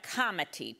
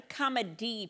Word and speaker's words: comity: And I will call them the complicity problem and the comity problem, not the comedy problem. I've got to pronounce my T's.